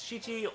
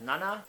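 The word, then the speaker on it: 七: Seven is shi or otherwise read as nana.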